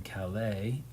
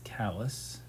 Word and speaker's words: Calais: Like anywhere else in the world, you would live in Calais, but Calais in Maine is callous.